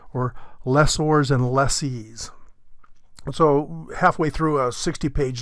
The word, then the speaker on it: lessee: The rhyme is, the lessee rhymes with me, and I'm the little guy. The lessor rhymes with landlord, and that's the big guy.